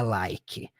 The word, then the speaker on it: like: palavra não é pronunciada like o último som dela é o som do k é like terminando no